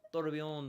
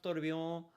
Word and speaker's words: Tourbillon: That is pronounced Tourbillon, and I am very happy that I know that's how that's pronounced. Because it's the same name as the new Bugatti Tourbillon. and it's French. It looks like it's pronounced tourbillon, but it's tourbillon.